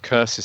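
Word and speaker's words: Cursus: But they found a couple of curses here as well, which is spelt circus.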